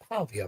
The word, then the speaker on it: Pavia: You got uh Diego Pavia, Pavia, if I say it right.